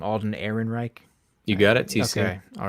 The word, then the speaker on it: Alden Ehrenreich: sculpt of uh i think is how to pronounce his name alden ehrenreich you got it all right good um sculpt's